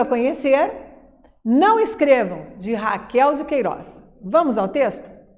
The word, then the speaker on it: Raquel: Queiroz escreve-se Rafael mesmo escreve Raquel e pronuncia-se Raquel antes que você tenha